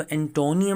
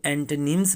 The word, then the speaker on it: antonyms: लोग इसको एंटोनियम मैंने पढ़ते हुए देखा है, बोलते हुए सुना है। एंटोनियम गलत है, इसको एंटोनिम्स पढ़ते हैं।